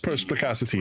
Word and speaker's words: perspicacity: No, perspicacity. That's how you pronounce it.